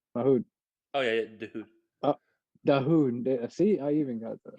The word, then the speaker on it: Dahoud: No, Mahoud. Oh yeah, dude. Dahoud.